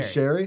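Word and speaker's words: Sheary: Sherry? It's pronounced Sherry, like my mom's name.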